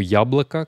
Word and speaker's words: яблоко: Et donc le mot яблоко, qu'est-ce qu'il va devenir? Donc il se termine par un O. Hein. Ça se prononce A, mais, enfin ça se prononce presque comme un A, mais c'est un O.